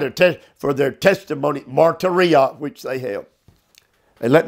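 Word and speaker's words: μαρτυρία: Martyria. I will spell it. M-A-R-T-U-R-I-A. Martyria.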